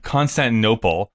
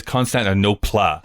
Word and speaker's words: Constantinople: up the fact that Constantinople weirdly in the 1987 version she pronounces I think in a weird way where she says concept of no plot she really emphasized that